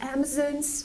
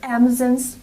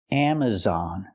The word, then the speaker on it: Amazon: Warehouse I work for Amazon's warehouse for example I cannot say amon's Warehouse Amazon's Warehouse the word is not pronounced Amazon it's pronounced Amazon Amazon use the open Sound ah on Amazon we cannot say Amazon